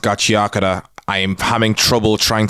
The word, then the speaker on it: Gachiakuta: Gachiakuta, I know it's pronounced Gachiakuta.